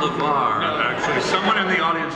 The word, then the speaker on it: LeVar: I have a question for LeVar.